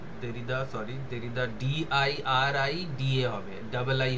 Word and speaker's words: Derrida: JACQUES, জাক, উচ্চারণটা হয় জাক, জাক দেরিদা, DERRIDA, দেরিদা।